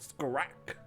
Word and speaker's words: Scrack: It's all in the throat. Scrack.